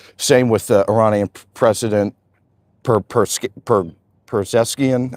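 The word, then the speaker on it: Pezeshkian: Same with the Iranian President Perzeskian, I believe is how you pronounce his name, and Ayatollah Khamenei had that look into it.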